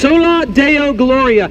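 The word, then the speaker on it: Soli Deo Gloria: a phrase, it's a Latin phrase, and it's pronounced sola Deo Gloria.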